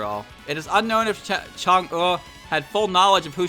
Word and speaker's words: Chang'e: Pronounce it, please. Is a planned orbit. It's Chang'e 4.